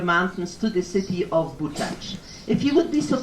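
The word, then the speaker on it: Buczacz: And the pronunciation is Bučac.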